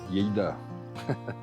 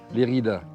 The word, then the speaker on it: Lérida: Et ensuite, je ne sais pas, je peux aller là-bas vers, on va le prononcer à l'espagnol, Lleida, Lérida.